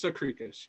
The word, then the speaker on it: Sakrikas: It's pronounced Sakrikas, yes. Sakrikas.